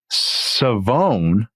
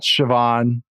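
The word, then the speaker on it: Shavon: this guy and I actually have his name pronunciation right finally and that is Savone. Oh wow. Okay. Yep. Rell, I'm sorry. Savone Rell from East Carolina. Not Siobhan.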